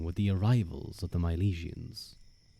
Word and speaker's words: Milesians: The climax coming with the arrivals of the Milesians. I always Mylesians I think is usually how I hear it pronounced.